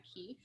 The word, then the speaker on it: Keeffe: Griffin Keefe, but his last name is spelled Keeffe. Cool. Yeah, 2 F's.